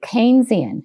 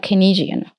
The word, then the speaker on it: Keynesian: So you you pronounce it Keynesian. Yes. And that's the proper way not kynisian I think I think his name was Keynes and I think they pronounced it.